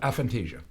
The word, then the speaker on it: aphantasia: Is that how you pronounce it? Aphantasia. Aphantasia, okay. So what I just actually literally found out today is I have a disorder called aphantasia, which sounds really cool, but it's nothing bad.